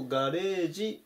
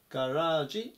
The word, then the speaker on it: garage: 926 番ガラージガラージ発音に注意ですねで日本語だとガレージっていう風に言うんですけどもガラージと読むのが正しい発音になりますまたは車庫